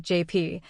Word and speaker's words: JP: He insisted on calling me Hotepay. I mean, I get it. It's the Spanish pronunciation of JP, but that doesn't mean I have to like it.